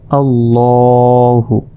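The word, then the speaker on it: ٱللَّٰهُ: তাই এই শব্দটি মোটাভাবে উচ্চারণ করতে হবে।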